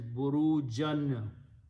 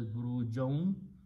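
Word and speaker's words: بُرُوجًا: Wow means and and he he also placed, so burujan will be pronounced as burujon.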